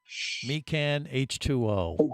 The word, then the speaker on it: Mechan H2O: yeah, no, it's Mecan, which is spelled MECHAN H2O. Mecan H2O is the name of this Yeah.